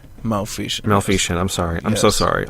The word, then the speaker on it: Maleficent: Were we talking about Maleficent? Maleficent. I'm sorry. I'm so sorry. I mispronounced it.